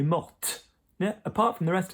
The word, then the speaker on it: morte: So really, the only extra verb I can think of which you will hear the E going on the end of it is mort. So she died, elle est morte.